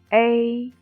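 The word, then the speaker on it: ei: one is a a the pronunciation of it is similar with a in lay a a when you pronounce a firstly the o should be pronounced and then slide to e the corners of the mouth open to both side without the back out of the airflow ay ay let's learn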